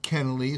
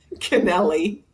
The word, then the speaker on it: Kennelly: And and how about uh because um some most people pronounce it Kennaly, some people pronounce Canelli.